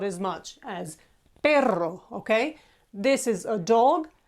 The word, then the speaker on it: perro: single or double are for example perro has Double R and you need to roll it more to distinguish it from simply Peril